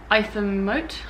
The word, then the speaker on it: Ightham: And then we went to after Blue Water we went to Itham-Mote, I believe is how it's pronounced, but it's spelt IGHTHAM or something.